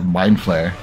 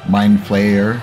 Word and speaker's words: Mind Flayer: kind of like a mind flare a mind flyer yeah what's a mind flare mind flayer oh uh I don't know I just wanted to say it properly because I think I was making it sound like flair oh are you um